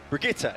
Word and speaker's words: Brigitte: I've seen a lot of these pro players mispronouncing Brigitte. It's Brigitte. Brigitte. Not Brigitte, not Bridget. You almost got it.